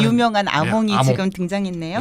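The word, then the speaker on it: Hamon: 네, 그 유명한 아몽이 아몽. 지금 등장했네요. 하몽이라고 읽으면 안 됩니다. 네. 아몽입니다.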